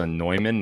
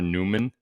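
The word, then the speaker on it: Neumann: back on the nyman I was told that it's a nyman not a Newman although it's spelled Newman like hello Newman so now I think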